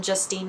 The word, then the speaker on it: Justine: um name crowd um I get Justin probably more than Justine and I don't blame